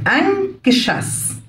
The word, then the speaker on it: anxious: هنا الإكس أكنها كاف وهنا جزء ده هتنطق زي شين كده يبقى anxious anxious anxious.